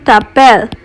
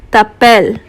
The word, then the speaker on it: t'appelles: We will not be pronouncing this last S, so this question becomes Comment tu t'appelles?